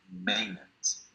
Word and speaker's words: maintenance: esta palabra vi ahí, algunos tuvieron problemas porque decían maintenance. Esta palabra en inglés norteamericano se dice maintenance. Solo así. Maintenance. Más o menos así.